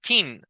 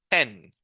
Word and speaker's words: ten: solo es una e si fueran doble e Entonces yo diría chin pero no es chin este número no es chin es ten Solo cuando hay una doble e Entonces ya suena como I verdad Acá no aquí está sonando como e en en entonces recapitulando la